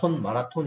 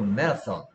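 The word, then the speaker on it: marathon: 우리는 한국 사람들은 마라톤 이러는데 뭐 이게 TH니까 혀를 살짝 문거 메라선.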